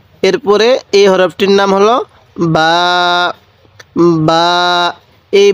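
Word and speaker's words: ب: এই হরফটির নাম হলো বা এই বা টা দুই ঠোঁট থেকে উচ্চারণ করব দুই ঠোঁট একসাথে লাগিয়ে এই বাটিকে উচ্চারণ করব বা বা তাহলে এটা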